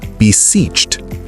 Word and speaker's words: beseeched: To beseech, beseech in the past tense is beseeched. Ed d is pronounced as t. The e d sounds like a t because the ch is a voiceless consonant.